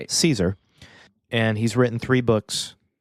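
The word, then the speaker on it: Cesare: author is Adam Caesar it is spelled c s a r e so it looks like Cesar but it's Caesar and he's written three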